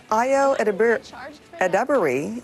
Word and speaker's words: Ayo Edebiri: All right, so it may not be as intense as the original beef of Chicagoland, but Ayo Edebiri is how we're pronouncing it, knows how to turn up the heat in Studio 8H.